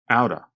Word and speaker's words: out of: I noticed they said out of quickly, so it almost sounds like one word, outa.